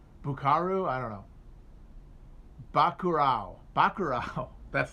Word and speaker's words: Bacurau: By the way, I'm sure it's not pronounced Buckaroo, but I don't know. It's Brazilian. It's Portuguese language name for a town. Buckaroo? I don't know. Bacurau.